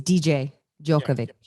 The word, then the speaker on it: Djokovic: with a js just like a d it's dj joke of it it's yeah and there's no h on it